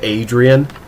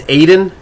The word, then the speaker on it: Aiden: into a Rocky Balboa cry of Adrian it's it's Aiden just regular Aiden I assumed it's a